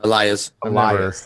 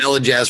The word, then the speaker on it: Elias: It's pronounced like a yeah, like a Y sound. Elias. I've never been able to pronounce it. No, I called him Elijaz for a long time